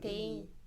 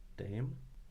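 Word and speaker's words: dame: 아무튼 댐? D-A-M-E. 데임. 데임? 여자한테는 네임이라고 한답니다. 발음해보세요. 댐?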